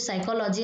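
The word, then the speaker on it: psychology: पी से बट यहां पर साइलेंट क्या है पी सिर्फ साइकोलॉजी हम लोग बोलते हैं इस तरीके के जो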